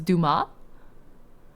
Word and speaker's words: Dumas: so this is new the S is silent so it's Duma do have fun Ying in chat 5:00 a.m.